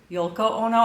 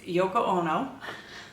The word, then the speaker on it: Yoko Ono: called Yoko Ono and I know I pronounced it Yol YOLO Ono I think I was just trying to get that l in there so it was differentiated from her name but uh it's Yoko Ono is the name of